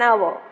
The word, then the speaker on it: hour: has come half an hour late half an hour and our why because it starts with the oh well that's why though it is a h we don't pronounce h we pronounce o so it becomes an